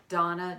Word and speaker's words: Dana: us RDA and a like Dana but it's pronounced Donna yes Donna Donna spelled